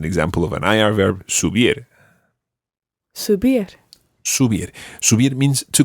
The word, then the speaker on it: subir: pronunciation, or the stress rather, on the last syllable. Comer. Comer. Hablar. Hablar. And as an example of an IR verb, subir.